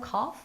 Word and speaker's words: cough: Do you have anything for a cough? 왜 이게 나왔을까요? 그쵸, 여러분. 커피 할 때 커피와 cough예요, 여러분. 발음이 조금 비슷하려고 그러죠. 자, 특이하게 GH가 F로 발음돼요. cough.